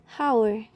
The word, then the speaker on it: hour: Most will pronounce hour, while in fact in her, the letter H is silent into hour.